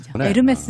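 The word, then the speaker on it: Hermès: 스 아까 아 아 아 그냥 홀리 싫어하면 에르메스 입니다 이렇게 지욱 발음이 안 난다 면서 요금이 에서 h 가 발음이 안 되니까 우리가 운무 도 호 무라 고 안하잖아요 암흑에 프랑스 요 남자로서 에르메스 는 고유 브랜드 아 그 크리스 신화 중의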